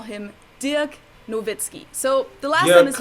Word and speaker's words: Nowitzki: americans like to refer to him as dirk dirk nowitzki or novitskiy but in german we call him dirk nowitzki so the last one is usually right but